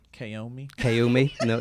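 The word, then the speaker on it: caoimh: I'm gonna say is ko me we should you spell it first so that I'm gonna say it first ko me okay ko me like Naomi that's what I'm gonna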